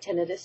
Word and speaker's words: tinnitus: First thing I want to point out is what tinnitus is. Pronounced tinnitus or tinnitus, both are acceptable.